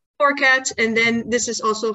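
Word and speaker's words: forcats: Forecats or forecategories? Or that's just fine. I just say forecats. Forecats.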